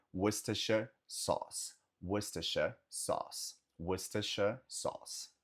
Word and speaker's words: Worcestershire: E esse condado falamos Worcestershire. Worcestershire, Worcestershire, Worcester, Worcester, Worcester, Worcester. Você pode falar só antes de Worcester, Worcester, Worcestershire, Worcestershire, Worcestershire. E o nome do molho é Worcestershire Sauce, Worcestershire Sauce, Worcestershire Sauce.